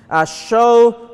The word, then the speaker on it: shew: more the title the sermon this morning is show the Lord's death show the Lord's death now